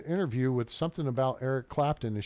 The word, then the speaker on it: Clapton: with something about Eric Clapton and she calls him Eric clapner I like that Eric clapner fella she said his name wrong like three times Eric clapner hilarious um